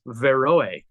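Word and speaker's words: Beroë: looks like his burroway his name is actually pronounced veroe the B it's a Greek name and it's the pronounced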